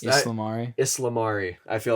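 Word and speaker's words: ysalamiri: completely made out of the empire cannon the salamari though the salamari the islamari that's what it's called that's how it's pronounced yeah islamari i feel like an idiot um for pronouncing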